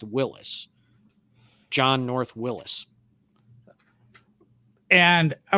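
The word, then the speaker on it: Willys: of the whole company but the family name is pronounced willis john north willis and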